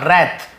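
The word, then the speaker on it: wrath: Raise और रैथ, W silent होता है, रैथ लेकिन लिखते हैं।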